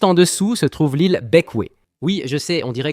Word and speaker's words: Bequia: Juste en dessous se trouve l'île Beckway. Oui, je sais, on dirait que ça se prononce Bequia, mais c'est bequé, c'est comme ça qu'on le prononce.